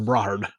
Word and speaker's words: Brohard: They're like, "It's not brohard. We're Brahard.